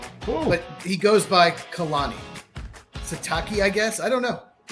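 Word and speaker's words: Sitake: So, it's Si T A K E. Uh, Satake. His real name is Kiaoa Kalani. Cool. But he goes by Khalani Satake, I guess.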